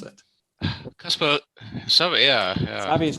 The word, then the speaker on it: SAVVY: I'm not sure whether I say it correctly, SAVI. Or how do you pronounce it? Caspar, SAVI, yeah. SAVI is correct.